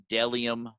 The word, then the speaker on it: Bdelliom: And lastly, my friend Isaac Thomas at Dellium Clothing. That's BDELLIOM, pronounced Dellium.